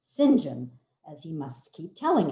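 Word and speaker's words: St John: and his given name it looks like saint john but it's pronounced sinjin as he must keep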